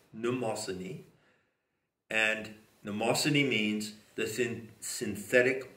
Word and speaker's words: Mnemosyne: Starting at the top, remember, the Muses are the nine daughters of Mnemosyne, spelled M-N, begins with, and it's pronounced N, Mnemosyne.